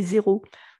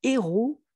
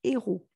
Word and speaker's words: héros: parlé j'ai parlé de héros alors le héros donc attention fait pas la liaison avec ce h là on dit pas un héros on nous dit pas des zéros on dit un héros des héros c'est un